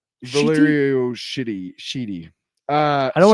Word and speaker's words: Valerio: Number 12 by Chip Sedarski and Valero. Shitty. Valerio.